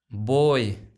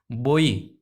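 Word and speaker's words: boy: बॉय, बॉय पढ़ोगे तो गलत पढ़ रहे हो, इसका सही प्रोनाउंस होता है बोई। बोई, देखो बोई किस में है, बोई, तो देखो बै हो जाएगा, ओ हो जाएगा, और ये हो जाएगा ओई। ओई डिप्थोम्स हो गया ना, बोई।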